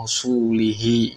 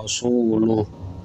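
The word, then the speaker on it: رَسُولُهُ: Contoh, bara'atum minallahi wa rasulihi, ya, wa rasulih. Ini bacanya bara'atum minallahi wa rasuluh. Nah, ini jelas kesalahannya mengubah harokat.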